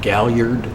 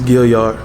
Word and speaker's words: Gaillard: pronouncing your name right Galliard is Gilyard sorry I knew Gilyard